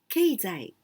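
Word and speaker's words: 経済: Keizai. Keizai. And we pronounce keizai.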